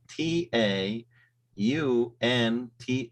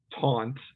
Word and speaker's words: taunt: okay um yeah so taunt is is how we would pronounce that um so it's a real kind of almost like on like you're turning a light switch on taunt um and I